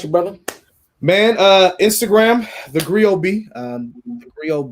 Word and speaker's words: Griot B: And then, of course, look up Griot B. That's Griotb. The T is silent like D in Django.